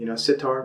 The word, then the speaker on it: sitar: It even rhymes with it, sitar, guitar.